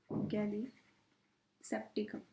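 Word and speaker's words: gallisepticum: आ जाएगा आपका माइकोप्लाजमा गैली सेप्टिकम पर आप इसको प्रोनाउंस ऐसे करोगे गाली सेप्टिकम क्यों करोगे देखो तरीका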